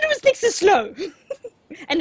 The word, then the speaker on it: Slough: Who said it was next to Slough? And it's Slough. But anyway, That makes it worse. it's spelled S-L-O-U-G-H. Slough. Slough.